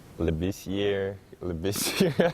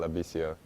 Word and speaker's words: Labissiere: I'm not sure, but I've heard Labissiere. I don't know how they mess it up, but the correct pronunciation is Skal Labissiere.